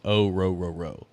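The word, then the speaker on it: Orhorhoro: according to the Beast the pronunciation of his last name is ooro so oo yeah there you go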